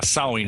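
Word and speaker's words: Samhain: celtic british isles yeah sewing it spelled samh a IM but we say it as sewing and yeah that's the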